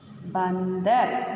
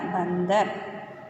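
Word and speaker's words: बंदर: The next one, ba plus की मात्रा की symbol plus dha plus ra. Bandar. Ba in dha ra. Bandar.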